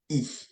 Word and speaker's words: I: e e okay so I in French we pronounce e okay make sure you